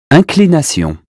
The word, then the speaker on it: inclination: Imbécile, inclination, information, injuste, important, instant, intact.